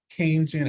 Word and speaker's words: Keynesian: called keynesian and it's it's pronounced like sugarcane keynesian economics which looks at short-run